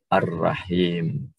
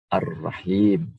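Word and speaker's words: الرحيم: Padahal dalam tulisan harus ada alif lamnya, sedangkan dalam pengucapan lam tidak perlu dibaca. Sehingga Ar-Rahman, Ar-Rahim.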